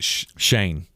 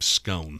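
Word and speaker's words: Schoen: And I don't remember how to pronounce his name. Shane. Joe Shane. Joe Shane. I wanted to call him Scone. Scoin.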